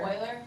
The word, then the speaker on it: Euler: Oiler?